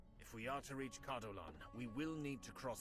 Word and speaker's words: Cardolan: Cardolan, oh, so that's how you say it.